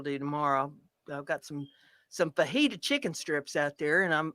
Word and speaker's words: fajita: Fajitas. So that's what's going to happen around here. I like words with a J in them where you don't pronounce the J.